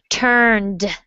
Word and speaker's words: turned: in true okay so i want you to work on emphasizing that final d sound turned okay it's a flappity